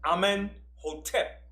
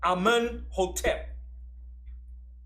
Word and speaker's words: Amenhotep: His son was Amenhotep the first. Okay? Now, a pharaoh in Egypt had two names. He had his birth name, which was Amenhotep, which means Amun is at peace with him.